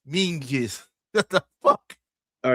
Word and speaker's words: Menzies: It's written Menzies, but it's Mingis.